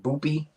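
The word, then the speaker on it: Boopie: on a guy that guy named boopy rhymes with poopy not gonna be good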